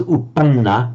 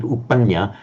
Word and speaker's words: uppanna: You're making the reverse error that Shalika made. It was uppanna, but Shalika said uppanya, but this genuinely is anya.